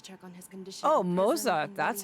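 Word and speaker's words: Moze: Oh, Moza, that's how he's pronounced.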